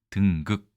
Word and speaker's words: 登極: 바로 보시겠습니다 일단이 글자는 우리가 보통 등극이라고 읽습니다 등극 어디 어디에 등극하다 최근에